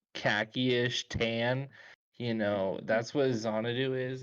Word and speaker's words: Xanadu: I think that's the Xanadu. pronunciation. Xanadu, yeah. It's It's Xanadu. It's like Xanadu. Yeah, it's Xanadu.